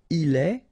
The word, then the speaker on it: il est: Il est, exactly the same sound as we had previously, okay, so just remember that you write it like that, but then phonetically it goes like est, elle est.